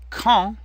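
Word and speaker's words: quand: me kee kee kee call means when notice that the D is silent and the a n makes our nasal sound on so come it's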